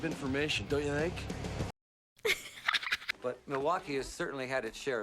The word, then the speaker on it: Milwaukee: awful lot of information don't you think but Milwaukee has certainly had it share of visitors in fact isn't Milwaukee an Indian name yes Pete it is actually it's pronounced milake which is El gonin for the good land